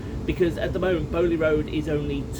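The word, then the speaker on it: Beaulieu Road: that yesterday, and bar, now I think it's pronounced Bowley Road, something in that vicinity, because at the moment Bowley Road is only 2 hours.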